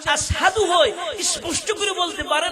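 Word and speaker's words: أشهد: বেলাল যখন আজান দেয় আশাদু বলতে পারে না। উচ্চারণ আশহাদু হয়।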